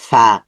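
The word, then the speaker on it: فاء: একটা নোক্তা আছে ফা ফা এর মাখরাজ হচ্ছে উপরের দাঁত নিচে ঠোট নিচে ঠোঁটের মধ্যে লাগবে ফা নরম সাউন্ড হবে খুব শক্ত হবে ভিতর থেকে বাতাস আসবে ফা তারপরের আমরা দেখতে পাচ্ছি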